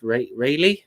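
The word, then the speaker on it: Raleigh: he was born vegan i think it's pronounced rayleigh but it was when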